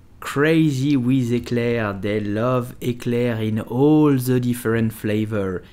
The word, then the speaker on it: éclair: So, how do you pronounce it? You will simply say éclair.